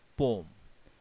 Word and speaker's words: poem: मैंने पोएम नहीं बोला है। The real pronunciation of this word is पोम। इसमें ई साइलेंट होता है।